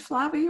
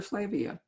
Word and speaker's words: Flavia: all of this five do you pronounce that flabby or flavia plevia okay so flavia actually lives